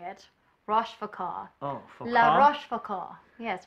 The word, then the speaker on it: La Rochefoucauld: And Francois Rochefoucauld. I think that's how you say it. Rochefoucauld. Oh, Foucault? La Rochefoucauld.